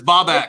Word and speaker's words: Bobak: Also, it's Bobak. This is You why said I his couldn't- name wrong.